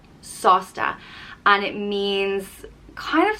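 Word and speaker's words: sásta: talking about it and it's sausta it's pronounced sauce like a sauce that you put on your food sausta and it means kind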